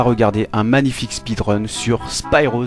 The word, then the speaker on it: Spyro: un magnifique speedrun sur Spyro the dragon ou Spiro le dragon prononcé à la française alors j'imagine qu'on ne